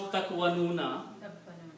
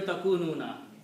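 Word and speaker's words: تَكُونُونَ: Try to pronounce takwanuna compared to takununa. Which one is easy to pronounce?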